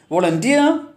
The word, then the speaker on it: volunteer: Most of the words ending in self, e, ia, et and ik take stress on the last syllable.